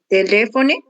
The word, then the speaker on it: telefone: Telefone. Novamente, por favor. Telefone. Ok. Temos aqui esse lé, com mais força, telefone.